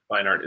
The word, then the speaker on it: Beinart: Is that how you pronounce it? I think it's Read it. Beinart, but yeah, Beinart.